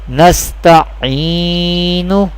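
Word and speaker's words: نستعين: Here last letter has pesh, and in case of waqf, when we doing waqf, when we perform waqf, it will be changed into sakin.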